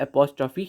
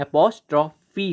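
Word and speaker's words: apostrophe: है उसकी, तो वो एपोस्ट्रोफी ही होगा। ठीक है, एपोस्ट्रोफी होगा, ये एपोस्ट्रोफ या और कुछ नहीं होगा इसका प्रोनाउंसिएशन।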